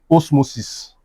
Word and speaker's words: osmosis: let's use this guy this one, osmosis os- mo- sis. If I break down osmosis, I will have os- mo- sis So, the stress is at the third You count three.